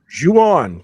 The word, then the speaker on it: Ju-On: Is that how you pronounce this, Chris? Ju-On? Ju-On, yes.